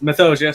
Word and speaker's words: Mythosia: Yeah, it's Mythosia, said like ambrosia.